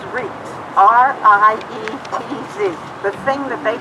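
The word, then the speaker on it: Rietz: I know you pronounced it Reeds. Is it? Yes. Good question. Okay. Yes, this is Reeds.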